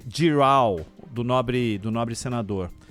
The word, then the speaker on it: Girão: isso até lá foi o Eduardo Girão ou giral como você ã achar que que deve pronunciar o nome giral do nobre do nobre